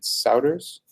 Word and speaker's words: Souders: SpeedCurve was made by Steven Souders. That's how you pronounce his last name.